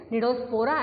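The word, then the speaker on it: Cnidospora: Number 3, Nidospora. C is silent. Nidospora.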